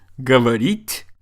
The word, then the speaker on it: говорить: Do you remember we've talked about the difference in words like говорить versus говорит?